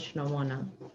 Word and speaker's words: Chinomona: Oh, I am not good with pronouncing names. Can you help me out with the last name? My surname is Chinomona. Chinomana.